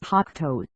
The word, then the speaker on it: Hakuto: "We think that we can beat them on the moon," said Takashi Hakimata, the leader of Hakuto, pronounced Hakuto.